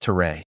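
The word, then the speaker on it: Tör: Turk society was governed by the Tor pronounced ter, an unwritten code of law and customs.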